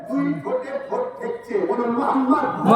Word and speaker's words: মোহাম্মদ: উচ্চারণ করুন মোহাম্মদ মোহাম্মদ খেয়াল করে দেখুন নবীর নাম নিলে দুই ঠোটে ঠোট ঠেকছে বলুন মোহাম্মদ মোহাম্মদ আমার নবীর নাম চুমা না দিয়ে পৃথিবীর